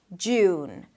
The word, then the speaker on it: June: Jew, and then close it with an N. June.